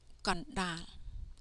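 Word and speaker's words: កណ្ដាល: This word is read Kondal. Na here is the ending consonant of the first syllable, kon. Ka no kon. Sound just like this. Sound just like ka no kon, but not like kon. Okay. The subconsonant da then becomes the initial consonant of the second syllable. Okay. So da da lo dal, kon dal.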